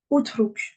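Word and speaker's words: اترك: Ah, sur ma troisième lettre, il y a une damma. Du coup, je vais dire quoi? Utruk.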